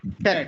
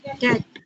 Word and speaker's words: cat: তাহলে উচ্চারণ করি স্যার আমরা এটা খেট, খেট, খ্যাট। খ্যাট, এটা কিন্তু লং না, শর্ট এ। খ্যাট। Cat.